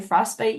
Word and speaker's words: frostbite: one word as well when I say frostbite you can't hear the T very clearly it's not pronounced uh very clearly when we talk quickly in English but it is the